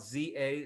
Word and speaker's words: za: often two-letter words, like this word, which is pronounced chi, or the word spelled za, za, which is short for pizza.